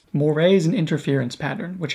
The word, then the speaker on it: moiré: pronounced the word wrong it should be moire not moire also not sure if